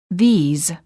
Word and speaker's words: these: houses warning common mistake make sure that you're not pronouncing the words this and these the same the word this is singular and is pronounced with a short I sound and a s the word these is plural and is pronounced with a long vowel e and a z sound this these I like